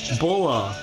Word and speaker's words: Bora: Bora? Because that's the Japanese. Oh. How they pronounce it.